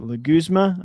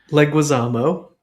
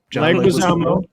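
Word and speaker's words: Leguizamo: Like um is it legma? I'm so bad with names. Leguisamo. Leguisamo. Thank you. Terrible. Leguisamo.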